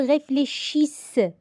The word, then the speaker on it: réfléchissent: Ils réfléchissent. NT, je ne la prononce pas.